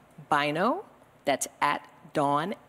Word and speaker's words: Bynoe: Bynoe. That's at Dawn Bynoe. That's B-Y-N-O-E. The E is silent.